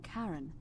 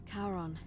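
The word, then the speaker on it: Charon: is a little off the name you heard wasn't karen it was c-h-a-r-o-n the ferryman of the dead karon who in exchange for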